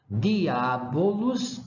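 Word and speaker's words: diabolus: de significado de onde vamos lá então eu pronuncio dias não dias diabolos não diabolos und no onde certo E aí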